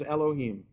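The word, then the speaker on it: יהוה: When Adonai is followed by Yud He Vav He, you always pronounce it, the Yud He Vav He as Elohim.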